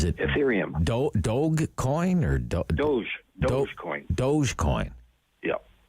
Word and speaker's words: Dogecoin: Dogecoin. Yeah. It's 5 cents. Maybe that's the one I can afford, actually. Well, Dogecoin.